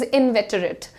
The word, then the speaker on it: inveterate: The word is inveterate. How do you pronounce it?